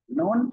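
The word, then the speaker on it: نون: জিহ্বার আগা তার বরাবর উপরে তালুর সাথে লাগিয়ে নুন উচ্চারিত হবে। নুন উচ্চারিত হবে।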